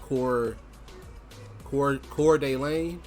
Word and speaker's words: Coeur d'Alene: I think from what I read in other people's YouTube videos in the comment section, this is pronounced Coeur d'Alene, something like that.